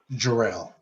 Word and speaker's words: Jarrell: Do you pronounce it Gerald or Jarrell? Jarrell.